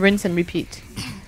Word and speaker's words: rinse and repeat: Rinse and repeat, c'est comme ça qu'on prononce?